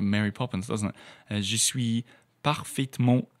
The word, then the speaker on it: je suis: The word je suis, you don't usually pronounce the S at the end unless the next word begins with a vowel.